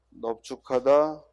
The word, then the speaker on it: 넓죽하다: 우리가 원래 넓다는 리을로 발음해야 되는데 비읍으로 발음하는 게 세 단어 있다고 그랬지? 그 세 단어가 뭐예요? 넓적하다, 넓죽하다, 넓둥글다.